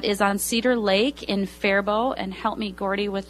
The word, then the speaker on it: Faribault: That is on Cedar Lake in Faribault.